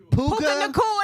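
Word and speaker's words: Puka Nacua: How you say his name, right? Puka Nakua. There we go, Puka baby.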